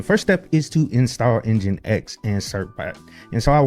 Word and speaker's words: NGINX: So, we can go down there and install Engine X. And the command to do that is simply pseudo apps install NX. And it's spelled NG I NX.